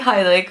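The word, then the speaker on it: Heilig: from Everywhere by Heidi Hilik, who has the best name ever, spelled like the Dutch word for holy, which is Hilik.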